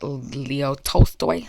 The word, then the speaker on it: Tolstoy: But it's by Leo Tolstoy.